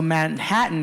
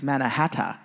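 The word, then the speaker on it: Mannahatta: history about that matterhata is the proper way to pronounce Manhattan that the natives pronounce so he's actually pronouncing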